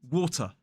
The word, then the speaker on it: water: the intervocalic T sound if a t a t comes between two vowels we normally pronounce it in a modern British RP accent so let's go back to our word water water listen to that sound water water we do not use the glottal stop in the middle of